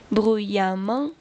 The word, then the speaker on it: bruyamment: Notez que dans les deux cas, on va prononcer a bruyamment évidemment.